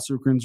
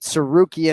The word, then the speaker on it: Tsarukyan: It's so funny because I have 2 friends of mine that their names start with T, but it's pronounced like the S. So you just ignore the T, right?